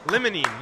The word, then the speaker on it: limonene: Tyler, pronounced a word. Yeah. Limonene, yes.